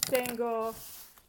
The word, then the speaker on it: tengo: If a word ends in a vowel or N or S, like any conjugated verb ends in a vowel, like hablo, tengo, nouns like taco, casa, then you stress the next to the last syllable naturally, and it does not need a written accent.